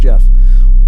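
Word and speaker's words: Gef: was in a spell g-e-f g-e-f but it's pronounced jeff whether jeff was a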